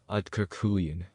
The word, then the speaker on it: Aaiyyan: This is the whole yantra, and it is pronounced Aaiyyan. Aaiyyan.